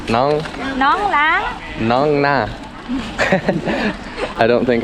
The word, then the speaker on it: nón lá: Nón lá. Nong na. I don't think I can pronounce anything right.